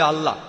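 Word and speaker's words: الله: একমত উচ্চারণে কিছুটা পার্থক্য তারা বলে আলা আমরা বলি আল্লাহ উচ্চারণ কিছুটা আলাদা তবে শব্দ দুটো একই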